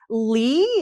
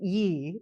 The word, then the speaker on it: Lee: I actually asked my Korean friends to record because like Lee is actually pronounced Yi in Korean.